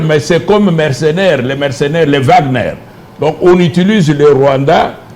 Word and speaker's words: Wagner: Oui, ça c'est l'élément déclencheur, mais c'est comme mercenaires, les Wagner. Donc on utilise le Rwanda comme le Wagner, je prononce en allemand, donc les mercenaires russes là, du moins comme nous les appelons en Occident.